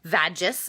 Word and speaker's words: vagus: vagina and the last one is called the vagus nerve which is actually pronounced or written vagis v-a-g-u-s the vagus nerve and it really it's